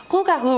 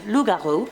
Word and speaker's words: Rougarou: Rougarou represents a variant pronunciation and spelling of the original French Lougarou, which is the version I heard about when I was younger at summer camp.